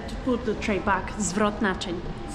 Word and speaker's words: zwrot naczyń: Zwrotnaczyn. Zwrotnaczyn.